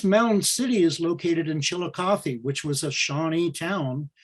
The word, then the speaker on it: Chillicothe: the city of chillicothe the name chillicothe itself is a is a shawnee name chalgotha and it was anglicized to be pronounced chillicothe likewise there was a